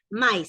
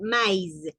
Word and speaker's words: maïs: ¿Se recuerdan que cuando una palabra tiene eso que está ahí, que es la trema, o en este caso la diéresis, es cuando una letra, en este caso las vocales, se pronuncian por separado. Entonces no es maíz, sino maíz, maíz, ¿ok?